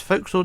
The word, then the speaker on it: forecastle: So what we're going to do first, we're going to focus on the forecastle area here on the front of the ship. And remember, it's forecastle, although it's spelled forecastle.